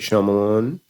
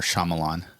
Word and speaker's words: Shyamalan: Um, or Shyamalan. I did it again. I'm just gonna That's why I've been saying might because I cannot pronounce this. Shamalan.